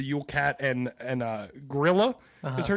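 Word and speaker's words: Grýla: I want to specify you are not saying gorilla no gorilla yeah yeah like gorilla not like Donkey Kong spell it gorilla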